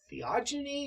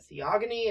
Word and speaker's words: Theogony: Okay, so we're looking at a work called the Theogony or the Theogony. I don't care which way you pronounce it.